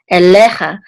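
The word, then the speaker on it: אליך: kamatz, which says cha, elecha, and the accent's on the middle syllable because of this trope mark right here.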